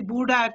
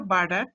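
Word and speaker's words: Burdach: ফেসিকুলাস গ্রেসিলিস of bird অনেকে দেখছি বুডাক কি কিসব কথাবার্তা বলে এগুলি বলবে না অফ বার্ডাক ফেসিকুলাস কিউনিটাস তাহলে দেখো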